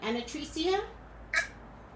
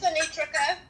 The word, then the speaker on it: Anitrika: Hi, let me see if I'm pronouncing your name right. Anatricia? Hi. Hello, it's Anitrika. Anitrika.